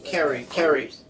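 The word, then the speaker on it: Kiera: Now, also, I forgot how to pronounce her name. Kyrie? It starts with a K. Carrie? K-I-E-R-A? Yes. Carrie.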